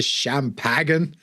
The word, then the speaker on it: champagne: And he's like, oh, would you like the rest of the champagne? It's pronounced champagne. Oh, God. And that's remind. Hey, it's French. I think champagne's French, isn't it?